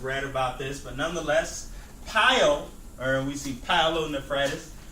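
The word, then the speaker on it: pyelo: talk about piyo okay it's literally pronounced pile p-y-e-l okay you should have read about this but nonetheless pile or we see paolo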